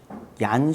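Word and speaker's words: Jean: 사람이 있어서 어렸을 때부터 장 이라고 불렸다고 해요 그는 모국으로 사용한 스웨덴 어나 핀란드어 식으로 읽으면 얀 시벨리우스 가 되지만 장은 보통 프랑스 씨 이름으로 보통 프랑스 우측으로 발음을 하다 보면은 장이라고 한다고요 시벨리우스는 1865년에 핀란드의 괴로워요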